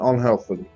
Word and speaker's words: unhealthily: So most of them are stressed on the first syllable. But which three adverbs are not stressed on the first syllable? Of course, incredibly, politely, and unhealthily.